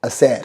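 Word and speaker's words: hacer: देता हूं टू डू को हम बोलते हैं असर हैं जी हां यह सैर अगर आपको याद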